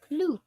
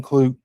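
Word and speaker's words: Klute: Clute. I said it right. Cloot.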